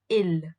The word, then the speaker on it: ils: including men and women it would be ill it's ils when it's only a group of women then it's l e l l e s and the last letter s is always silent and that's the thing